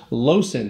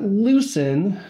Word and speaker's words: Loosen: okay I'm here with dr. Lawson not loosen you know spelled that way this Americans say that dr.